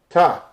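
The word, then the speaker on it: תו: Ta. Okay? That's an X. But it's pronounced with a T. See there?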